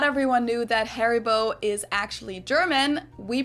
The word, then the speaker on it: Haribo: call that Haribo but if it was a German pronounce pronunciation it's probably more like har Hari boat and probably stress on the eye Haribo I would say